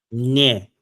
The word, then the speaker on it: мне: Мне. It's an M. It's an M that ends. It's an It's a that ends with nye.